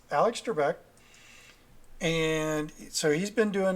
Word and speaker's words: Trebek: Alex Trebek I was correct so it's Alex Trebek and so he's been doing it for a